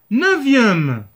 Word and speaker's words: neuvième: 5 l'adjectif cardinal 5e mais ici c'est le prononce pas Macron sixième septième huitième neuvième 9 ici 9 9 l'adjectif cardinal 9 mais